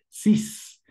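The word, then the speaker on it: six: En este caso sería con S, cis. Algo un poquito fuera de lo común porque normalmente la X no suena, pero en este caso sí. Cis.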